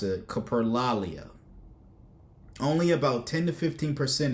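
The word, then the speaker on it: coprolalia: The behavior be the behavior people commonly associate with Tourette's uncontrollable swearing is called capro I'mma mispronounce it caprolia only about 10 to 15% of people with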